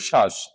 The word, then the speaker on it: শ্বাস: তো নিয়মটি হচ্ছে কি, শব্দের প্রথমে থাকলে বফলার উচ্চারণ হবে না, এই জন্য এখানে শুধু শ্বাস।